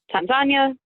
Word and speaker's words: Tanzania: swahili i would say tanzania the emphasis goes on to the second syllable and the a's are soft rather than hard so i'd say those